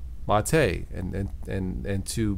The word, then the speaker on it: MATE: terrific desktop environment for Linux but it's not pronounced mate now sometimes I will call it Ubuntu mate but it's really pronounced mate and and and and to give the respect